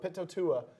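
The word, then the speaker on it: Pitoitua: Pitotua is how you pronounce the last name. P-I-T-O-E.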